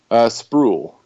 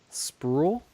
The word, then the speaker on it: Sproul: Spruel. Sproul? Yeah, like it rhymes with cool, pool, All right, spruel.